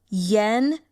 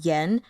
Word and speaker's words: Yan: And I'm not doing the tones, just the, the pronunciation. So, Bing Xian. And then we have Yan, Xuexing.